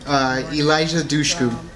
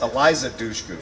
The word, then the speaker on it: Eliza Dushku: Elijah Dushku. Hold on. Yeah. It's Alicia Duku. Am I pronouncing that right? I'm not going to give you Alicia Duku. It's Eliza Dushku.